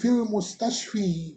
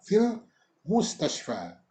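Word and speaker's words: في المستشفى: Fil mustashfa tetap dibacanya dengan fathah pada huruf fa. Namun kita membacanya 2 harokat karena ada alifnya di sana. Bukan fil mustashfi, bukan. Tapi tetap fil mustashfa.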